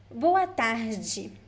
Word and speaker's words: boa tarde: So the G in boa tarde is also a variation of accent. You could also say boa tarde or boa tarde, depending on the place. But the most common one is boa tarde.